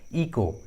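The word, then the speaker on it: echo: देखिए इस English word में जो एच है वो सी के बाद आया है। इस ट्रिक के अनुसार सी का एच का उच्चारण नहीं हुआ है, एच साइलेंट है, इको।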